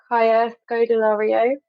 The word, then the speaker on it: Kaya Scodelario: I would cast, pronounce her name correctly, Kaya Scodelario.